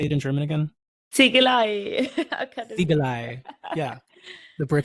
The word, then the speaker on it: Ziegelei: Ziegelei Academy.